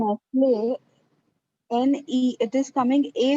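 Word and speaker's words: Nestlé: लोग in कुछ the change word कर ही Nestle, N-E, it is coming A only. So will we have to put a macron over E, like after N-E, the acute accent E? Because it's Nestle and it's coming like A-E only again, the sound.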